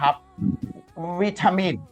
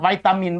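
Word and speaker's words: vitamin: บ่อย ๆ นะ ครับ วิตามิน วิตามิน เงี้ย ไวตามิน บ้าน เรา ก็ ได้ หรือ อ่าน ว่า วทามิ วิตามิน อ่ะ ไวตามิน ต้อง อ่าน ว่า ไม่ ใช่ วิ นะ อ่าน ว่า ไว ดี กว่า ฝรั่ง ชอบ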